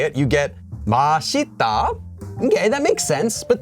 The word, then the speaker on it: 맛있다: marker so you don't say it you get masita okay that makes sense but then you don't